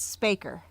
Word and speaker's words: Spacher: easy but the second one is hard to pronounce it is hard it's spaker write it down and this is Lucy who